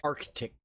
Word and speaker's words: Arctic: that's why you see you're pronouncing it incorrectly which confuses your spelling yes sorry it's Arctic yeah I I make sure to pronounce the first C every time so that I remember